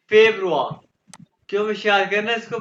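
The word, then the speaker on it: Februar: फेब्रुआ, जानवा फेब्रुआ।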